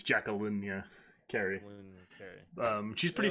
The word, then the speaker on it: Jacqueline: dr jacqueline carey um is it jacqueline it's jacqueline yeah kerry um she's pretty famous uh jim